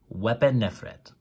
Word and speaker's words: Wepemnefret: So that's a P, that's an oo. These are complements. So wep, so this is the word wep. It tells you that you have to pronounce it as an oo and a p, so wep. And m, the m, so wepem, and then neferet, wepemnefret.